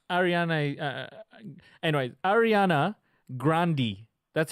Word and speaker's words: Grande: her do you feel like Ariana anyway Ariana Grande II that's how she pronounces her last name Grundy grandi Grande Ronde know that's what grande no no